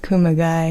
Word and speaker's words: Kumagai: Fly Yeah. rhymes with Kumagai.